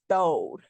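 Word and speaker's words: throwed: But yes, it's spelled throw, but you say Thode.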